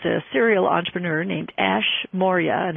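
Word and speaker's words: Maurya: individual who is a Serial entrepreneur named Ash Moria and it's spelled Ash as and his last name is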